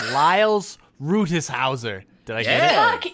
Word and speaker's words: Liles Rutishauser: This week, our guest did not tell me how to pronounce their name intentionally because it'll be funny. It's Liles Rutishauser.